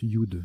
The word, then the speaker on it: yud: Et oui, voilà, on le prononce Yud. J'avais un gros doute, c'est Yud.